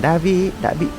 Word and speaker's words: Davy: A Swiss tourist named not Devi, but Davy, was swept away by the water here. However, the locals mispronounced the name, so it became known as Devi’s Fall.